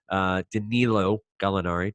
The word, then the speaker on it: Danilo Gallinari: Danilo Gallinari, to pronounce it correctly.